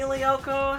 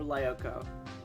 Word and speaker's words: Lyoko: it sound mean so it is leoko okay like code leopo okay i wasn't